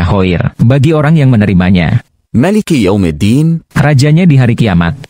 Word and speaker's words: مالك: yang membacanya Maliki. Ma. nya panjang, Fama'nahu.